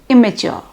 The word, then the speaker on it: immature: single occurrence like immature the double m in the spelling is pronounced as a single M immature then lending is there